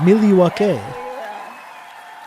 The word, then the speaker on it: Milwaukee: It's pronounced Milwaukee, which is Algonquin for the good land.